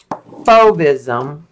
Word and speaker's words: Fauvism: so it was called fauvism like fo like like to fake